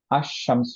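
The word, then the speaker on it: الشمس: লামটা merge হয় একচুি আশশামস হয়ে গেলশিনের সাথে মার্জ হয়ে গেল এই ধরনের লেটারগুলো যেমনশিন র এখানে লামটা উচ্চারণ না করে মার্জ করে দুইবার উচ্চারণ করলাম রকে বাশিনকে সেগুলোকেশামসিয়া লেটার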